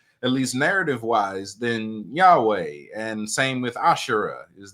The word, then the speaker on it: Yahweh: The name Yahweh is the sound of you breathing. That's why they struggle to pronounce it. It's just an inhale and an exhale. It's just the sound of you inhaling and exhaling.